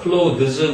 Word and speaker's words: clothes: 그리고 close 그러면 뭐 clothes 그러기도 하는데 보통 그냥 발음 없이 close 이러기도 하죠.